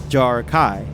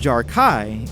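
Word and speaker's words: Jar'Kai: as I am concerned Jarrah Kai similar to what we have with who the Sai the second half of jar Kai isn't pronounced with a vowel a but with the vowel sound of AI hints jar Kai but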